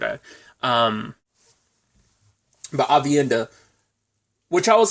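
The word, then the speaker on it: Aviendha: ends up finding a um IO named um Avi India avienda sorry I butchered a um but avienda which I was like do they don't know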